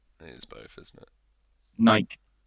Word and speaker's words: Nike: I think Nike is like the way they say it, isn't it? Like that's how you would pronounce it. Nike is there's no. It would be Y or like IE if it was Nike. Or like an accent on the E.